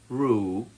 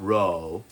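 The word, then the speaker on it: roux: It's actually pronounced rue, not row, the French word for our butter mixture with flour to thickening our gravy or sauce.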